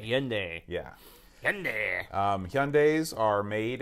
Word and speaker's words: Hyundai: But I got a 2017 Hyundai Sonata. How do you pronounce that? Hyundai. Hyundai.